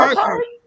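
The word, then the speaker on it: Burghardt: How do you pronounce his son's name? It's the B part of W's name. Burkhart.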